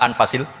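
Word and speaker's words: أنفس: Di sini ditulis anfusil kutub. Kalau saya baca anfasil kutub karena maknanya kitab ter baik. Kalau kitab terbaik bacanya bukan anfus tapi apa? Anfas.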